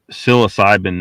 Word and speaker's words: psilocybin: Psilocybin mushrooms. Well, psilocybin would be more correct pronunciation of it.